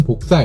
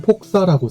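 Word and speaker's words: 輻射: 먼저 우주 배경 복사란 우주의 배경을 이룰 만큼 우주를 꽉 채우고 있는 복사열 혹은 복사 에너지를 일컫는 말입니다. 복사라는 것은 무엇의 사본을 만드는 복사가 아니고 한자로는 폭사라고 쓰고 복사라고 읽습니다.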